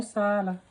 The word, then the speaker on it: Salah: Mo Salah. That's how he says it.